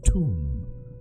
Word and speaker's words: Thumb: Thumb, pronounced tomb.